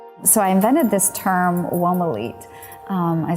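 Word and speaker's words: Womolete: So I invented this term, Womalete. I spell it W-O-M-O-L-E-T-E, Womalete.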